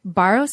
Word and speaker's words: Barros: Well, next up, we're going to hear from Eric Barros. Is that how you pronounce it?